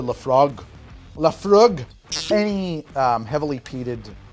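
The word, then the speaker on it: Laphroaig: quart ounce of Lefroy I as an American pronounce that as Lefroy I have been told that it's probably closer to lefrog lefrog any um heavily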